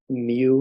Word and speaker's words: mu: and that are short acting work on the MU it's called that looks like uh the letter U it's pronounced mu receptor Tramadol also works a little